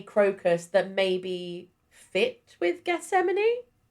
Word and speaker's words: Gethsemane: There's a song in it called Gethsemane.